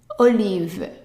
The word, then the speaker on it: olive: starts with an O remember in the French O is short o o and the I is an e sound so o leave and the e at the end silence Olive it's feminine singular but